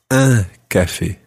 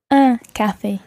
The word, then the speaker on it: un café: And then you make your mouth really wide. Un café. Un café.